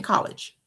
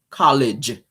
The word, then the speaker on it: college: I'm not your speech therapist, but there is a G in college. College. Say it with me. College. See how that flows? College does not have a SH at the end.